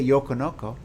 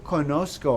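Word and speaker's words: conozco: in the yo form it's unique so the z i have to add a z yo konosuko i can't just say yokonoko i gotta go yo conosco i have to add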